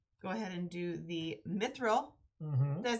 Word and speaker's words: mithril: One of these, I'm going to go ahead and do the mithril.